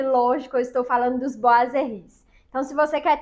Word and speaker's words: boiserie: palavra então informação útil a palavra boiser se escreve boiser mas na hora de pronunciar se pronuncia boazeri essa é uma palavra